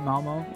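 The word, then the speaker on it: Malmö: here in Sweden uh visiting petter's hometown of Malmo am I saying that right Momo that's that's good perfectly fine perfectly fine pronunciation as many of the people probably already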